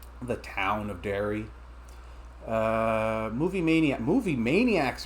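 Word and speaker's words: Derry: The town of dairy.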